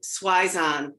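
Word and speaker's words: Zwisohn: correct pronunciation thank you it's megan schweiz on like paizon like your italian cousin good and then i'm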